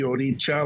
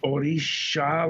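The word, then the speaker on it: Òrìṣà: By the way, parenthetically, your pronunciation of the word is basically the Cuban pronunciation because of Spanish. So they will say the Oricha like a CH. In Africa and in Nigeria, it's spelled O-R-I-S-A, and there's a dot under the S, which makes it Oricha like S-H. So you'll hear that, Oricha. In Brazil, the SH sound is an X, like if you're playing the kashishi, right?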